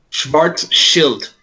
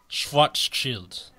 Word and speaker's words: Schwarzschild: Schwarz Schild. Schwarzschild. Schwarz, like black. Schwarz Schild, Shield. not child. Schwarzschild. Shield, like shield.